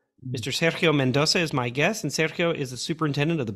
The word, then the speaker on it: Sergio: much Peter and actually thanks for saying my name Sergio right it's not not many times I can find that out you know with from people so thank you for the Accents in the right places so thank you Peter